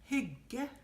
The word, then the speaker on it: hygge: Hygge.